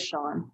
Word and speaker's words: Sean: Did he say Sean? I thought it was John. I thought it was John until the last time he pronounced it, and it sounded like Sean. Yeah, I thought it was John also. Sean? It is Sean.